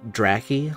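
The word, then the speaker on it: Dracky: I'm pretty sure it should be Draki, like Dracula. Because they're clearly vampire bats, but they're also slightly dragon-like, which makes me think of drakes.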